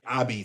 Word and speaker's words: apizza: Abby, that's the way it's pronounced in Naples.